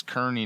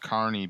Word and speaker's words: Kearney: One of the largest cities with today's episode's area code is well, most people read it as Kearney, Nebraska, but it's pronounced. I know this is pronounced Carney because there's a storm chaser on YouTube that lives in Kearney, and do they have a carnival?